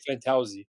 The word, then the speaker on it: Fantozzi: Yeah, there's a few ways to pronounce it, and you got the way we say it. So we say Fantozzi.